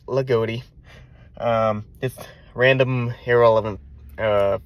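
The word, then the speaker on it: Loogootee: Um, if you're not familiar with the area, the way it's spelled, you might think it's Lugi. Don't know why I'm telling you this, but no, it's Lagoti.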